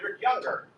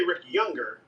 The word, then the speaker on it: Rick Younger: just say rick younger i only say ricky younger when i'm uh answering like a question that's like what is your name so that people will spell it right but if i just say it in my natural um cadence i have a soft r like so many negroes and southerners do and if you're a